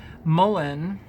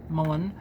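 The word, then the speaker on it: mullein: or needing to expel mucus from the lungs, Mullen, see how it's spelled, M-U-L-L-E-I-N, Mullen.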